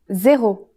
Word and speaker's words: zéro: It's the same as in English, but with a different pronunciation. Zéro.